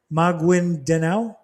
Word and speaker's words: Maguindanao: Areas specifically cited include the Zimbabwe Peninsula, Maguindanao. How do you say that, Mom? Maguindanao, and North Cotabato.